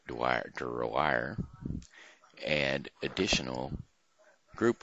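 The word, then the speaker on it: Drouillard: and an interpreter named George do riller pronounced Dwyer to rewire and additional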